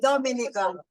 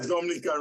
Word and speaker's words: Dominica: this is an introduction to the destination of Dominica oh we call it Dominica it is spelled d-o-m-i-n-i-c-e it is not Dominican Republic it is pronounced Dominica and it's situated